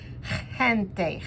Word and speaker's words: gente: is important is Gente that G is like you're spitting from your throat Gente Gente that word is